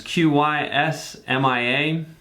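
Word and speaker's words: Qsymia: more expensive drugs called Qysmia or Qysmia. I don't really know exactly how it's pronounced. It's Qysmia.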